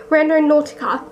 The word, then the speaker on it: Randonautica: ticking is that Felisa how do you say it Renault Nautica that's how you say it Brendon Nautica have